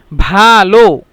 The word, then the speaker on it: ভালো: ভালো يعني كيف أنطق أنا مش عارف، لكن يعني با تقيلة شوية. كتبت يعني با ألف ها، لكن يعني ها دي مش ينطق. ভালো هكذا.